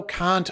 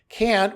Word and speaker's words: Kant: And I said, yes, but I don't pronounce it like the C word.